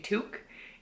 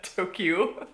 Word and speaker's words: toque: a beanie is a toque. And the way it's spelled is T-O-Q-U-E. If I wouldn't have known what that was prior to this, I would be calling it like a Tokyo or something.